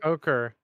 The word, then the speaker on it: ochre: words for colors well okra is uh yeah it's kind of like a brown out i heard the okra like the vegetable ochre oh great yeah i must have mispronounced when i was looking